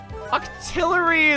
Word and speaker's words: Octillery: Octillery is how you say awkward.